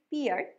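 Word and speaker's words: pear: এরপর নাশপাতি, ইংরেজি Asian পেয়ার, Asian পেয়ার। Common mistake, আমরা অনেকেই বলি পিয়ার, কিন্তু উচ্চারণটা পেয়ার।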